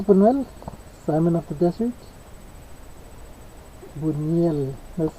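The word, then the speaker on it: Buñuel: is by Lis bunell Simon of the desert Buel that's how you pronounce his last name Buel um so uh I know he pokes a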